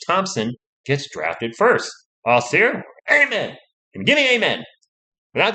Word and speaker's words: Amen: gets drafted first austin amen and give me amen without the magic be saying the graphics give me an amen i assume it's pronounced like the religious word and number six near